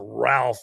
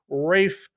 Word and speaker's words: Ralph: I think we should know his his first name is not pronounced Ralph anymore. It's Rafe Fines.